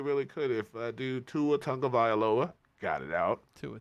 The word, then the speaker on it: Tagovailoa: They really, really could if dude Tua Tagovailoa got it out.